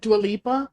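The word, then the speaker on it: Dua Lipa: uh her how do you say it dualipa dualipa whatever duala she's pretty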